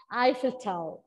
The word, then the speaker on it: Eiffel Tower: It's pronounced as Eiffel Tower.